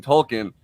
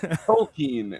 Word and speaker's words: Tolkien: it's all tolken context which I was pronouncing tolken and I learned from a lot of very angry uh internet posts on Reddit that it's toing and then I had